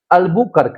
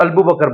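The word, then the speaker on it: Albuquerque: उसका नाम था अलबुकर्क। लिखिए आप। अल्बूकर्क। अल्बूकर्क। अल्बूकर्क इसको लोग अल्बू बकर बोलते हैं। है ना? अल्बूर्क है ना? मैं भी बोलता था। अल्बूकर्क डिंपल भी बोलते हैं क्या?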